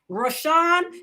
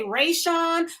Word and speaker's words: Rashawn: But if you hear me pronounce his name Rashawn, then you should know that that's the right way to pronounce it. And I know a lot of people that say Rayshawn. I know a lot of people that say Rasan.